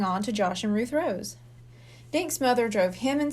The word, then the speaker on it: Rose: Rose rhymes with toes and nose.